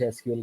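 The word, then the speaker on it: SQL: लोग सीक्वल कहते हैं, कुछ एसक्यूएल कहते हैं, तो वो कोई तरह.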